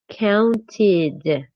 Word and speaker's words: counted: For example, it's not the same thing to pronounce counted. The ed sounds like counted.